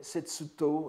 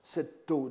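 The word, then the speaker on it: 薛濤: Elle est extraite d'un huitain envoyé à Xue Tao, en japonais, Setsuto, et que souvent on prononce Setto, n'est-ce pas, comme si c'était un nom relié.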